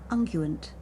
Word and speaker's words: unguent: Unguent.